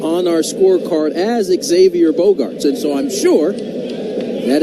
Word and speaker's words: Bogaerts: So here is Xander, who they have announced as Xavier twice now, Bogarts.